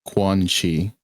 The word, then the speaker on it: Quanxi: if you want to know how to pronounce her name, it's like Quan Chi.